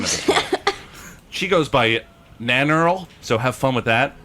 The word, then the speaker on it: Nannerl: She goes by Nannerl, so have fun with that. Nanner? Nannerl? Yeah, Nanner? Nannerl, Nannerl.